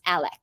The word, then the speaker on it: Alex: His name's, it's spelled Alex, but it's pronounced Alec.